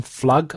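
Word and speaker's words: Pflug: The actress is I don't know how to say this exactly but it's Joanne Flug I think because it's spelled P F L U G.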